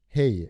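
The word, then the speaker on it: hej: Hey. H-E-J. Yeah. So it's J-Y. Like pronounced as a y. It sounds like hey.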